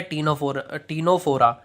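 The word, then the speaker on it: Ctenophora: Second होता है Coelenterata, third होता है टीनोफोरा। इसमें जो सी जो है वो साइलेंट होता है।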